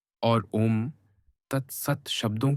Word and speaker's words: ओम: इसका शुद्ध उच्चारण खुले मुख के साथ औष्ठों को सिकोड़ कर ऊ तथा ओष्ठों को पीछे लाकर म ध्वनि निकालने से होता है।